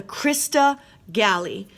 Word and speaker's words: crista galli: there see it and that is called the crista galli crista galli and the crista galli what do